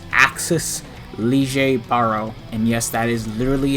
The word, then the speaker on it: Lille Barro: be showcasing stern redder x the x axis lee jay baro and yes that is literally how you pronounce his name i looked it up on